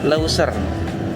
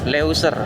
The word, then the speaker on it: Leuser: Gunung Low kayak mana sih bacanya? Lauser. Leuser gitu ya.